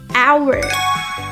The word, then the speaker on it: hour: The correct pronunciation is our hour.